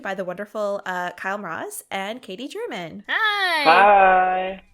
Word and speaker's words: Mroz: name correctly uh it's we actually pronounce it marose but maybe you are right like that's just how I've been growing up with marose but who knows exactly